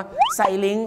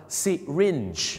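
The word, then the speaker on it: syringe: แล้ว เ นะ ครับ คำ ว่า เข็ม ฉีด ยา เ ออก เสียง ว่า siring นั่น เอง ครับ siring เหมือน กับ นัก ร้อง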